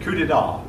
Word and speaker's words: coup d'état: short now it's again it is not spelled the way it sounds the P is silent yeah I hope that's